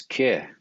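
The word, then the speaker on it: keej: teachings that I study they referred to horses as ke k e j that's the way it's pronounced and to them all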